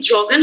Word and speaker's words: joggen: কি জগেনের উচ্চারণটা কি জগেন হবে নাকি ইয়োগেন হবে? না, জগেন। এটা কি জগেনই হবে? জি, ওই বিদেশি শব্দগুলো জার্মান ভাষায়, ওই ভাষায় যেরকম উচ্চারিত হয় ঠিক ওই রকম উচ্চারণ করে আর কি।